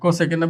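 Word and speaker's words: cosec: আছে কিন্তু এখানে, দেখো কো সেকেন্ড পুরোটা লিখিনি, এই ৪টা নিলেও এটার উচ্চারণ কিন্তু এই কজের মতো রয়ে যাবে। এই জন্য আরো একটা যুক্ত করে এটাকে কসেক লেখা হয়, এটাকে লেখা হবে কসেক।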